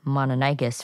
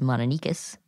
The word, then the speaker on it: Mononychus: which Garrett mentioned earlier, we have been pronouncing Mononychus for a while, but apparently more people pronounce it as Mononychus. Yeah, it looks like Mononychus when you read it because there's a Y before the cuss.